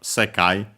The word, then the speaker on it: 世界: Here these, because after that we have sekai, Chinese compound, accent on the first more, this one, word, this word, can also be society, universe.